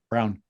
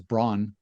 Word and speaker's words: Brown: confused yeah I mean everybody reads it as Braun but apparently the the proper pronunciation of it is brown so okay you should